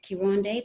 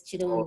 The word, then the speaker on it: Kironde: But you know, like when you're out and about, you anglicize it to Kironde, but really it's Kironde.